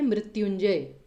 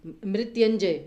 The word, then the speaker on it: मृत्युंजय: अब मृत्युंजय में इसका सही उच्चारण कैसे होगा, मृत्युंजय, मृत्युंजय में य के साथ छोटी ऊ की मात्रा आएगी या बड़े ऊ की, तो बोला कैसे जाता है मृत्युंजय, मृत्युंजय तो नहीं बोला जाता ना, दैट मीन्स कि छोटे